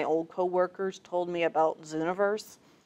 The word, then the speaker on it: Zooniverse: What happened was one of my old coworkers told me about Zooniverse. It's spelled universe, but with a Z-O-O.